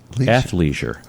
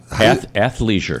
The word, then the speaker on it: athleisure: Athleisure. How do you spell it again? ATHLEISURE. That's hard for me to get out of my F. Athleisure. Athleisure. Like athlete. Leisure. Athleisure. There you go.